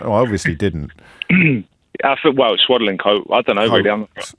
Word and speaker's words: Swadlincote: Will's in Swadlincote. Did I pronounce that correctly? Yeah, you did, James, yeah. No, I obviously didn't. I thought, well, Swadlincote.